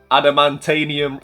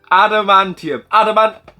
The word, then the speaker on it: Adamantium: That is Wolverine Adamantanium. I've been building this up for weeks and I've said it wrong. What is it? Adamantium.